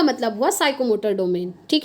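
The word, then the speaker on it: psychomotor: P का मतलब हुआ साइकोमोटर डोमेन। ठीक है, आई होप आप लोग समझ गए होंगे। देखिए ये P ना इसमें साइलेंट रहता है, ठीक है, इसको ना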